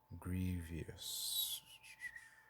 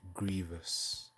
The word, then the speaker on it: Grievous: about painful something that's painful Grievious Grievous Grievous yeah that's how you say it Grievous um so what Grievous